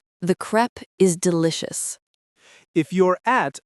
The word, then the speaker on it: crêpe: To get the pronunciation right, focus on the e sound.